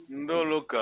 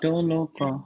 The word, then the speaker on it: Ndoloka: Ndoloka. Undoloka. Ndoloka. Congo language is nasal.